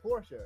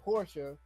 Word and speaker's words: Porsche: They kept saying Porsche.